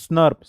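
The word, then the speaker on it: snRNP: nuclear ribbo nucleo proteins snurp this is pronounced as snurp small nuclear RNA plus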